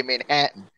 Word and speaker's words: Manhattan: We say Manhattan. We say Manhattan. Like when you got to emphasize the hat.